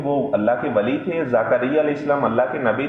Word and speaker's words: زکریا: مریم کی کفالت کی۔ قرآن میں چونکہ یہ زکریا لفظ آیا، ہمارے ہاں عام عوام کے اندر ذکریہ لفظ پڑھا جاتا ہے، تو ظاہری بات ہے میں تو وہ قرآن والا جو تلفظ ہے اسی کے مطابق پڑھ رہا ہوں۔ تو زکریا علیہ السلام